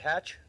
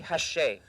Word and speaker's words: Hatch: Is it Hatch? Um, it's actually Hashe. Hashe, but that's the French guy. That's how they say it. But yeah, but it's like with an H.